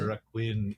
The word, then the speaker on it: Requin: Let's talk about 2022's The Requin. Is that how you pronounce it? The Requin. Yes, it's the French word for shark, right?